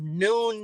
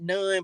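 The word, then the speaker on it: Nun: Joshua okay and they they pronounced it son of noon of of noon not none but whatever and so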